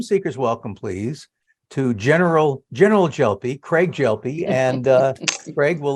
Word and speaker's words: Gelpi: Okay, so I'm Craig Gelpi, soft G.